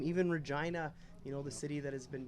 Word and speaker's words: Regina: Well, nearby Regina there, and you talk about Regina, the city that rhymes with fun.